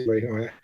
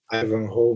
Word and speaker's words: Ivanhoe: ainda continuo falando Ivanhoé, mas obviamente não se pronuncia Ivanhoé. Ivanhoe, imagino que seja.